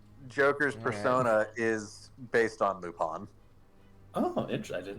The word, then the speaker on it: Lupin: was a reference to Lupine yeah it's the same thing it's pronounced lupon because it's French oh here's the stupid